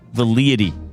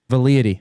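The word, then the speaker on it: velleity: Vality. No. Vality. Okay. What is it? It is spelled V E L L E I T Y. Vality.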